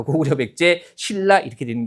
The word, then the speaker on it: 신라: 니은과 리을 만난 경우에 해당하는 거니까 당연히 발음 어떻게 해야 돼요? 신라라고 해야겠죠.